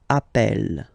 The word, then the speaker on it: appelle: You tend to pronounce it like really open. That's the reason why you pronounce it appel.